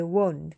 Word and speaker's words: won't: Won 발음은 W이기 때문에 W-O, 그냥 U라고 하자, U. 우가 아니고 온가 아니고요. I won't. 그 주의하시면 돼요.